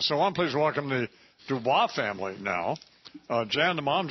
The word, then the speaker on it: Dubois: Also, Dubois. Am I pronouncing your last name right?